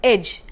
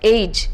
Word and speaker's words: edge: should be for example take the word edge you must have found many people pronouncing edge as age which is incorrect now this is because